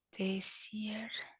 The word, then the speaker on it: Tessier: Específicamente, esta clasificación, que es la clasificación de Tessier, se las voy a anotar aquí, se pronuncia así, ay, es con S, Tessier.